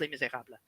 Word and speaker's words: Les Misérables: Kevin, it's pronounced Les Misérables.